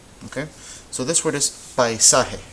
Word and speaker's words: paisaje: Okay, so this word is paisaje. How many syllables do you hear? Paisaje. You should hear 3 because this is one of them. Pai, sa, and he.